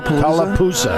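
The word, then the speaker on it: Tallapoosa: Talapusa.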